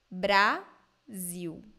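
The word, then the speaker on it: Brasil: L sound oh okay so the L in the end of words and syllables in Brazilian Portuguese sound like ooh so I read these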